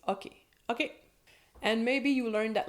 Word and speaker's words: OK: There is always the practical "ok", but in French, in Québec, we're gonna pronounce "ok", "ok", with a more open O, so instead of "ok", it's "ok".